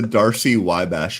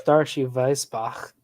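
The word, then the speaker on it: Darcy–Weisbach: What the heck is the Darcy-Wybash equation? I don't know what that is. Well, it's Darshu Weisbach.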